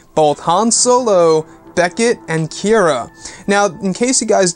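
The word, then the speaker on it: Qi'ra: So it's an interesting and new way of looking at a name like that, that sounds like Kira is spelt with a K, but it's not.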